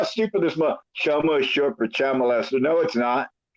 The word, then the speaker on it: chomo: It would be Chomo, you dumb motherfucker.